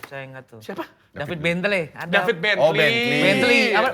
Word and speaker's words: Bentley: Ini baru-barunya siapa tuh yang David Blentle itu? Saya ingat tuh. Siapa? David Bentley. Ada David Bentley. Bentley apa bacanya?